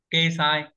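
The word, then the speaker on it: 掲載: Thế cái chữ đăng tải đọc là gì ấy nhà thầy nhỉ? Kê sai.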